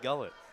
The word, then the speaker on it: Gullett: Is that how I pronounce that? Hallie Gullett.